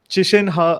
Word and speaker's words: Qishen Ha: I'm super excited to host Qishen Ha again. I pronounce his name correctly.